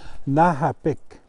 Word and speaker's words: nahapik: Then you'll notice that the K almost sounds like a G, like a soft G. If you practice saying Lady Gaga, if you can say Gaga. Lady Gaga. Yeah, not quite Ga.